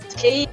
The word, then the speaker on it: Kyiv: It's very difficult because we spell it like Kiev, but I know it's in English Kyiv.